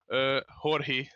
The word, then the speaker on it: Jorge: Actually, no English person has pronounced my name correctly, because it should be Jorge.